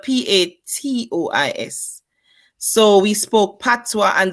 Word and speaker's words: Patois: we began to speak what we call Patois it's spelled p-a-t-o-i-s so we spoke Patois